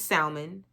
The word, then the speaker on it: salmon: leave me alone please did y'all hear um Angela pronounce the L and salmon it's salmon salmon then we going to